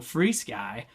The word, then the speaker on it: FrSky: or to free Sky free Sky just recently found out I was saying it wrong this whole time so free Sky uh you know uh